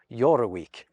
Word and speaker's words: Jorvik: So they likely pronounced it along the lines of Yoraweek.